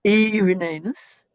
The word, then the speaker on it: Irenaeus: Irenaeus. Irenaeus. I've mispronounced it, no doubt. No, you're perfectly right.